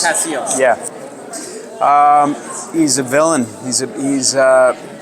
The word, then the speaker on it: Cassios: Tell us a little bit about your role as I'm not going to pronounce this. Cassios. Cassios.